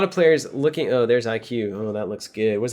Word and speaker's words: IQ: man are we sure are we sure it's pronounced IQ pretty sure it's not ick I'm pretty sure it's IQ yeah thank you Tim um man three and